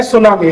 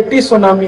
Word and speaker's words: tsunami: जैसे एक अंग्रेजी शब्द है सुनामी, तो बोलते हैं सुनामी, लिखते क्या है, TSUNAMI, तो बोलना चाहिए टी सुनामी टी सुनामी टी सुनामी टी सुनामी। कहते हो जी टी साइलेंट है तो क्यों लगा दिया, हटा दो वहां से अगर साइलेंट है।